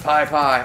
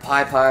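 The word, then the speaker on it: Pis Pis: Anyway, that river is in Nicaragua, and Piss Piss is pronounced Pi Pi. Aw, you cheater! It shares the name with a water weed there. Pi Pi River.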